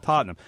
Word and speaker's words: Tottenham: Pronounce it correctly. Tottenham.